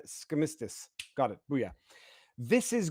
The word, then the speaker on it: Skistimas: It would rhyme with Christmas. It's Skistimas.